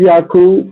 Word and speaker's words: Yakub: It's Yakub. That's the correct way to say it. But Okay. They say, New Orleans, they say Yeager. A lot of my people say Yeager.